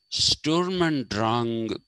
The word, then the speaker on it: Sturm und Drang: So this expressivism that begins during the Sturm, and it's actually supposed to be pronounced Sturm and Drang.